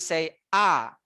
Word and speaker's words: saya: is me i uh it's two-syllable just say saya can you guys say